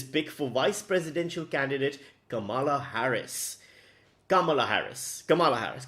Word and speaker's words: Kamala: american adults it's not camella it's not kamala it's not camella it's kamala kamala harris you know if